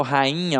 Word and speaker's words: rainha: Uma coisa é eu falar saída, ó. Saída. O I tem som de I. Agora, quando eu falo rainha, ó, rainha, o I não tem som de I, ele tem um som nasalizado, ele